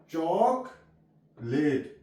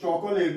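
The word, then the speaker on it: chocolate: चॉकलेट, यहाँ पे ओ से, इसको चॉकोलेट नहीं पढ़ेंगे हम, चॉकलेट।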